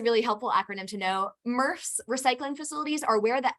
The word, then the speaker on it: MRF: facility or to a murph and the acronym is mrf it's pronounced smurf but without the s my very first job